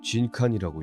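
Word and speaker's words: 人間: 이건 뭐라고 읽는 거지? 이건 진칸이라고 읽어.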